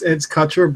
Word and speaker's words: Kutcher: It's Kutcher, it's not Kutcher, right? It's Kutcher, but don't worry. As long as you don't add an N to it, I'm okay.